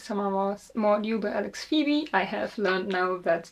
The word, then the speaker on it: Pheby: The last book I read this summer was Mordew by Alex Pheby. I have learned now that the name is pronounced Pheby and not Pheby after I googled it.